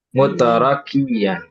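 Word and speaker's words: مترقيا: Jadi bacanya apa benarnya? Mutrakian bukan mutar. Mutarqian. Iya mutarqian ya.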